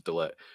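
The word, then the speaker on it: De Ligt: They got Delit. I'm gonna finally say it right, guys. It was Delit.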